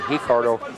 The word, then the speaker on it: Ricardo: there by ricardo ricardo sometimes i will say hicardo in brazil they pronounce the uh words that begin with an r with an h sound you get hyph gracie